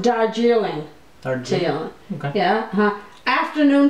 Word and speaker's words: Darjeeling: That's pronounced Darjeeling.